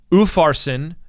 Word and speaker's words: Upharsin: But if you have the Hebrew letter Vav before it, that is the word and it's pronounced with the letter U in this case. So Upharsin and Farsin, the only difference is the sound U, and the word U means and.